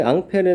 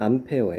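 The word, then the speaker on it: Ampère: 복지 관계에 있었던 거에요 사실 앙페르 는 이제 영어식 발음으로 하는 암페어 예요 우리가 전를 단위가 뭐야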